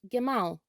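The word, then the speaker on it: גמל: In Hebrew, camel is pronounced gemal, gemal.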